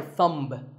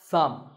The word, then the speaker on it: thumb: It's not my thumb. It's pronounced thumb.